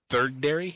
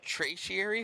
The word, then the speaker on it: tertiary: The third dairy? No, it's tertiary.